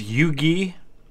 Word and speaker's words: Huger: I believe this is pronounced Yugi, even though it's spelled like Huger.